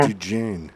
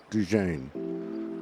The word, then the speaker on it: Dejane: I thought it was another version of Diane, but I guess it is. Dijon. Dejane. Well, it's actually coming from the feminine DJing.